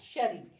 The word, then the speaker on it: Cherie: वैसे ही CHERIE, that ये जो CHERIE इज प्रोनाउंस्ड एज शरी, SHERRY, इट is pronounced as शरी.